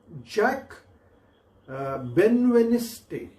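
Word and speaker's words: Jacques Benveniste: पण जॅक बेनवेनिस्टे, जॅकस असं स्पेलिंग आहे त्याचं, जॅकस त्याला म्हणतात, जॅक बेनवेनिस्टे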